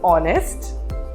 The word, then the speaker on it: honest: There are some words which start with letter H, but the letter is silent. Can you think of a word? I just started the video with that word. It is honest and R.